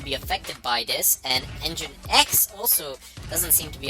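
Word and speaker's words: nginx: And engine X also doesn't seem to be affected by this.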